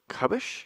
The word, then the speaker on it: Kabes: We got Andrew Kubish. Yes. Because it You got it. rhymes with rubbish.